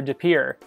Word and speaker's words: De Pere: municipality which is the city of de pere as we say it here de pere that is also a french influence and let's see how